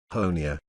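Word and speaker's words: Honea: In his third year as sheriff, Honia rhymes with Tony has become something of a rock star at the media briefings with a firm but friendly demeanor.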